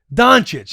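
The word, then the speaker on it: Dončić: what's his last name Luka donic donic that's what I was trying to say that's how you pronounce it yeah I thought you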